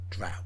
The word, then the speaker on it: drow: fire giant war machine drow drought rhymes with cow mention the drown nowadays